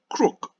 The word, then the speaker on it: crook: example the children should know that the first word is called gloom and the second word is second word is called crook even though it has a double O and once the children